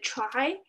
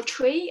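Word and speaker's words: trie: uh uh did structure called the the try or tree I'm I'm not sure my pronunciation is correct yeah yeah it's try try yeah you can build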